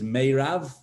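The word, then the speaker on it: Merav: have an older daughter her name is mayrav or may pronounced may rav i'm happy to give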